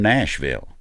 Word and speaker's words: Nashville: they'll correct you absolutely nashville ain't nashville if you from nashville it's nashville just like louisville so there's a b-u-l it just falls off at the end my sister-in-law married at